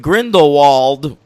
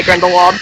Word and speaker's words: Grindelwald: for me yeah now I noticed you pronounced that W in grindlewald now I I've been hearing V's yeah I don't I'm not really a poser about like pronouncing things in a non-american way so I just say grindlewald but it probably is supposed to be gindel but yeah I saw